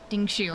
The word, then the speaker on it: Dingshu: Dingshu? Okay, that's how we pronounce it.